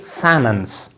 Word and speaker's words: sentence: American say sentence, sentence, sentence. और अक्सर spoken English में ये जो टी है ये अक्सर साइलेंट होता है. अमेरिकन इंग्लिश में अमेरिकन स्पीकर जो है टी को साइलेंट करता है, ठीक है. तो लिहाजा ये बनता है सैनेंस, सैनेंस, ठीक है. नॉट यू कैन से सेंटेंस, यू कैन से सेंटेंस, यू कैन से सैनेंस, नॉट सेंटेंस.